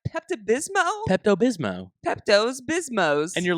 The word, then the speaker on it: Pepto-Bismol: they know how to read oh my gosh pepto-bismo she says Pepto Bismol we actually Pepto Pepto-Bismol we actually tested this